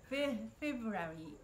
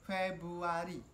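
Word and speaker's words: Februari: やろちょっとね、フェブラリー、フェブラリー、いやそれは英語の発音、フェブアリー、フェブアリー、 3 月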